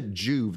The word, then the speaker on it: Joovv: So I have my big Juve panel at my treadmill desk.